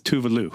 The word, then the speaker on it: Tove Lo: out of the way the correct pronunciation name is tuvalu yes and I got